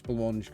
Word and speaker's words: Blancmange: So I did pronounce Blancmange correctly, thank you. Yes. That's good to hear. I wasn't sure. It's as the pudding.